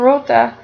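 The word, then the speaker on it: roote: don which means then likewise the words sota and rota include a short e as a suffix where modern english speakers would not pronounce the e separately middle english speakers distinguish the e as a syllable of its own because of this sota and rota are considered to have two syllables as compared to the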